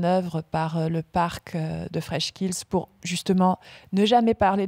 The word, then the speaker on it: Freshkills: Alors, il y avait un espace, ouais, et c'est la source fraîche, mais Freshkills, où on va accentuer ce kills, et puis en enlevant l'espace, l'accent tonique se trouve porté sur le fresh.